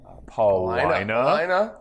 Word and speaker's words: Paulina: Do you know the 3 streets that rhyme with vagina? No. You're close to one. Paulina.